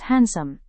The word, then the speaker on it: handsome: Here, D is silent as it is pronounced as handsome.